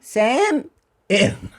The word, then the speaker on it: salmon: because you learned obviously in Spanish you say the L in Spanish that's why salmon that's why you that's why you in English it's a it's a it's a weird thing to drop the L it is weird the